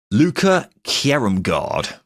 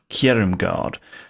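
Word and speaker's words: Luca Kjerrumgaard: Sorry, just give me a quick pronunciation. Let me get it up again. Luca Kjerumgaard. Kjerumgaard.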